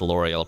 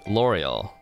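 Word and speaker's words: Lauriel: also where you meet l'oreal l'oreal placed number two in the popularity polls in 2022 as the second most like likable npc after nineveh yes his name is pronounced like the shampoo so we also refer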